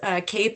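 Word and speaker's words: CAEP: Um, it's pronounced cape and aquip.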